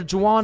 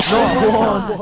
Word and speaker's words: Juan: That's just how it's pronounced. Jan, is there Jawan in the room? It's Juan. Juan.